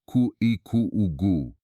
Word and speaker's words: Kuhikugu: Brazil, and you reach a place called Kuhikugu, pronounced Ku Eu, in a region studied for years by the